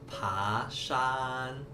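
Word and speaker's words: 爬山: Nah, teman-teman, hiking di Mandarin itu bacanya pashan.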